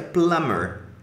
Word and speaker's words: plumber: Ó, plumber, esse B é mudo, tá? Então fica plumber. Plumber.